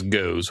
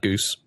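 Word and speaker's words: Gose: So Google pronounced it as goes, which it's a German goes. G-O-S-E, not goose.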